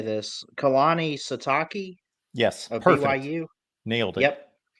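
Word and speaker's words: Kalani Sitake: Kehani Satake.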